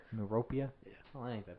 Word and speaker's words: Miropija: Is it because you can't pronounce my last name, Sean? Yes, that's exactly why. How you say it? Miropija? Miropija. Miropija?